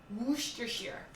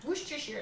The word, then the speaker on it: Worcestershire: I've always heard Worcestershire. So I pronounced it very American, and I think, oh no, I said Worcestershire.